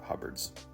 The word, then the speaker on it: Huberts: I end up treating these like oil tan and specifically not using Huberts or Hubbards. The official pronunciation is Huberts, but either way.